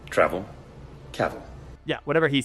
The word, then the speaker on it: Cavill: Cavill is pronounced like travel. Travel. Caval.